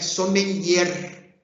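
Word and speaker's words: sommelière: nós vamos ver que a palavra para o masculino é som lhe e para a mulher é som melher Essa é a pronúncia correta Tá ok então começou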